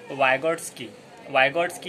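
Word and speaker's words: Выготский: कभी कभार ऐसा हो सकता है कि आपने उसे ऐसा पढ़ा हो कि वाइगोट्स्काय एस के वाई इस तरह से आता है वो, लेकिन उसका सही प्रोनाउंसिएशन वाइगोट्स की इस तरह से हम अदा करेंगे।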